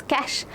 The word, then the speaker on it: cache: Let's pronounce this cash.